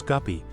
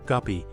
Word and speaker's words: guppy: In the countries of continental Europe, the distorted German pronunciation of the word guppy as guppy has taken root, but the correct English name of the fish, guppy, is used in the USA, Canada, Great Britain, and Australia.